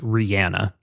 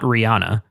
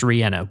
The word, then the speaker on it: Rihanna: question that I always ask, her name is pronounced Rihanna, not Rihanna. Everyone has called her Rihanna, including myself, which I will probably do accidentally at some point during this episode. Right. It is actually pronounced Rihanna, which she has said multiple times in interviews,